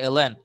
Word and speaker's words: ln: এটা কিন্তু ln, কিন্তু এটাকে ln বলো, এটাকে লন বলো, লন কিন্তু সঠিক উচ্চারণ না, সঠিক উচ্চারণ হচ্ছে ln।